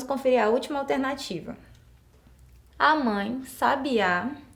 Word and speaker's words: sabiá: última alternativa a mãe sabiá sabia onde estava o sábia então quando eu pronuncio essas palavras com acento correto Eu percebo que muda o sentido e qual que tá